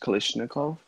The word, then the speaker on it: Kalashnikov: means Kalashnikov 47 cuz I actually pronounce kalishnikov I'm not sloppy he's more cheesy much